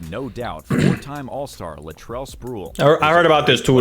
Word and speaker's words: Sprewell: Spurl? Nigga didn't even try to pronounce his name. You could have put his name in the Google Translator to see what they said. You could have looked up the interview to see how they pronounce. Like, nigga just said Spurl.